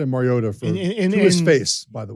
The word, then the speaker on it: Mariota: You always had the T in there? Yes. Mariota. Okay. Yes. I said it Mariota to his face, by the way.